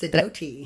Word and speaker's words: Sidoti: Yes, Sidoti. Did I say it right? Yes, you did.